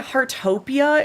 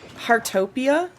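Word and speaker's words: Heartopia: Harttopia is another one if you're really enjoying the cozy vibes. Um, what game was that? Hartopia.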